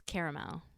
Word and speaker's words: caramel: I mean, caramel is The second A is silent.